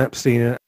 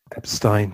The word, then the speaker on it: Epstein: the perception of Brian Epstein. Epstein, Jesus. I keep getting in trouble because the English pronunciation is Epstein, and I always find myself saying Epstein.